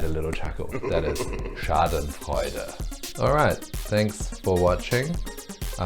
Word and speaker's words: Schadenfreude: That is Schadenfreude.